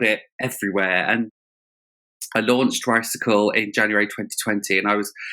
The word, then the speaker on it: Ricycle: So yes, it's Ricacle, like bicycle.